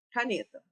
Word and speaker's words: caneta: Exemplo, caneta. Estou aqui. Caneta. O ne, eu falei por mais tempo, certo?